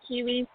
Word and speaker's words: Quihuis: It is pronounced Quihuis, right? Yeah, that's correct. It's just like the kiwi fruit with an S. Quihuis.